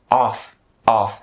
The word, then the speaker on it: off: different from each other so of starts with the uh and ends with a V sound while off starts with an R sound and ends with an f sound so off off and then link it